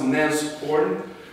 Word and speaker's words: Nashorn: let's talk about briefly what is n it's pronounced NES horn because it's the German uh German word from